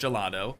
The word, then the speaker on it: gelato: And the next thing that we're going to have to do is change up the Gelato. I know it's pronounced Gelado, but we need to get this changed to a Cosmic Cow Milkshake sign now instead.